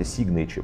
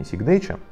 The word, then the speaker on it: Signature: Вся линейка Signature, кстати, Signature, правильно говорить, а не Signature, собрана вручную во Франции, естественно, к стоимости сразу плюс.